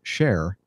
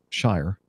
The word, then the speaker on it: shire: now blend in seamlessly another word that constantly trips up brave travelers from the Americans is Shire as in Hampshire Cambridgeshire and worst of all luckiest your child let's see okay going back to tarkman how do I help you on this I'm not sure I can some things are beyond a mere mortals well let's try if you say share instead of Shire sure I'm sure well